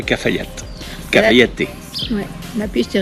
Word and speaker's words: Cafayate: Il y a pas de e hein, c'est mais ça se prononce comme ça. Cafayat.